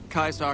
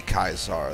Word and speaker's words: Caesar: I mean, they're not that off, though, because in Latin, the Romans actually spoke like that. They used a hard C for everything. Like, they did say Caesar, they did say Centurion. It's like only in later times where we have more or less anglified it into a soft C.